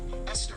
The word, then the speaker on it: Esther: spelled with a TH, they are pronounced as if they were spelled with a normal T. T. Like that. And these words are Thomas, Thomas, Thompson, Thompson, Teresa, Thailand, Thames, Esther, Esther, and Time, which is